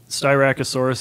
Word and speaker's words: Styracosaurus: it for us hunters styracosaurus is the way that one is pronounced i don't know what